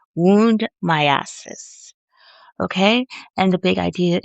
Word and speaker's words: myiasis: So, myiasis. So, I'm going to spell it for you.